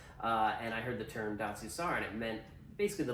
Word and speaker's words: Datsusara: And so it's Datsusara, hard to pronounce. The first time even Joe Rogan mentioned us, I think he said Datsusara.